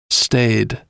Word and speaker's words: staid: college sophomores tend to engage in sophomoric behavior stayed stayed it's an adjective meaning bland or sober and i'll spell that it's spelled s t a i d